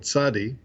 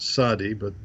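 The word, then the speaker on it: צדי: the end of words, whereas in Hebrew that sound TZ or TS is a separate letter called tzadi, not sadi or zadi, but tzadi, and he realized that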